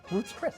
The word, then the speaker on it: Ruth's Chris: Ruth's Chris.